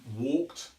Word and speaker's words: walked: say Walker's or talk it but the correct pronunciation is walked and talked now one way we can practice